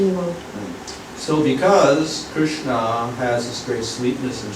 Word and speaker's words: Krishna: The name Krishna is divided into two syllables, Krishna.